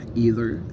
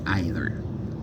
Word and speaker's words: either: Either nag dafa am ñaari prononciation, am na ñu koy wax either, am na ñu koy wax either. Boo ci wax baax na.